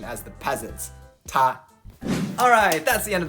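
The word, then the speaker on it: 他: That's right, the words for he, her, or it may have slightly different characters, but they are all spoken as ta.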